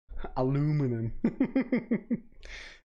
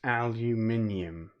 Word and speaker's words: aluminium: you still have it aluminum aluminium it's pronounced aluminium no i'm not going